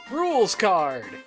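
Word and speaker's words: Rouxls Kaard: Rules card. I'm pretty sure that's how you pronounce it. It's French sounding, like that soup, the roux.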